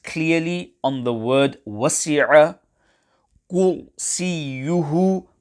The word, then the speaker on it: كُرْسِيُّهُ: Kursīyuhu, ra sakina, is pronounced full mouth. Care must be taken to ensure that the ra sakina is pronounced sufficiently full mouth. Also, ya mushaddada must be pronounced gently and not harshly.